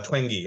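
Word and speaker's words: Twenge: the gene twangy uh twangy okay that's how you pronounce it yeah uh theory of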